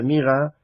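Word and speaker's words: Murad: Se dice Murat, si fuera en francés sería Murat, digo porque hay uno de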